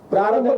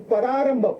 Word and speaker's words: प्रारंभ: परा म्हणजे दुसरं थोडस वेगळं परारंभ Prarambha means beginning, but he also pronounces it as Pararambha.